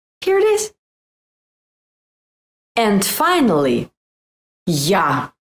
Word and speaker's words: Я: And finally, ya. This letter sounds like ya in yummy, but in some cases it sounds like a in after or ask, but the main sound is ya, ya.